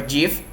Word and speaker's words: GIF: So the first one is GIF, or GIF or GIF. So it's pronounced either GIF or GIF, and it is supported by all web browsers.